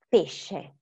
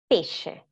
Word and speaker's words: pesce: Suono dolce is follows the same rule, SC più E, SC più E, is sh, so is she and she, sciarpa, pesce, sciarpa, pesce, okay?